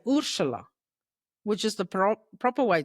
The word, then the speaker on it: Urzila: Ursula? Yeah, close enough. Ursula. Yeah, so it's Ursula. Ursula. Because Ursula. there's a Z in there. I know. But like my grandmother used to say Ursula, which is the proper way to say it.